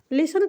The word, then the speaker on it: listen: तो लिसन को हम लिसन पढ़ रहे हैं, टी तो हम पढ़ ही नहीं रहे हैं। टी इसलिए नहीं पढ़ना है क्योंकि यहाँ पे साइलेंट है, ठीक है।